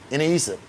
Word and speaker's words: iniisip: Like the one that was like hardest for me to get right was iniisip. Am I saying it right? Iniisip? Iniisip.